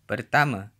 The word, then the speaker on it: pertama: Final a is usually pronounced as a schwa in Malay, at least in Malaysia. A couple more examples. Saya, meaning I, is pronounced saya. And pertama, meaning first, is pronounced pertama.